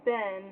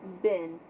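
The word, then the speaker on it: bin: point out on messenger it's not like ben not like the english name it's been b-i-n yes i think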